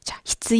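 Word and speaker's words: 必要: 발음 이 좀 어려워 요 . 히츠 , 히츠 , 히츠 . " 안녕 하세요 " 라고 말 한 후 에 혀 를 살짝 차야 해 요 .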